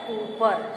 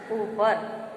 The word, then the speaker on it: ऊपर: इसके बाद है ऊपर, ऊपर न होकर के ये होता है ऊपर, शुद्ध उच्चारण होता है ऊपर।